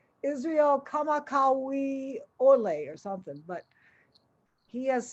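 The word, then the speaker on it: Kamakawiwoʻole: to butcher his last name i think it's pronounced israel kamakawi olay or something but he has since passed away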